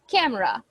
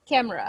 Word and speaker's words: camera: so this letter e this letter e doesn't have a sound she is nosis she has nothing to do over there with the pronunciation camera cameraa Cera cameraa camera camera